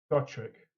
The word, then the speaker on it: Gotrek: you pronounce his name? Gotrek or Gotrek? Gotrek.